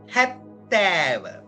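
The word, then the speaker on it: හැත්තෑව: 69 ஹட்ட நவய 70 70க்கு வந்த சிங்களத்தில ஹத்தேவ ஹத்தேவ என்று உச்சரிக்கணும் அப்ப என்னன்ு உச்சரிக்கணும் ஹத்தேவ அப்ப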